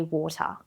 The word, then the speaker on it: water: It's not wrong to say water. You can say water or water. It is absolutely your preference, you will hear Aussies say both.